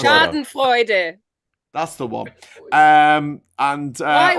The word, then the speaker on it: Schadenfreude: How do you pronounce that? Schadenfreude.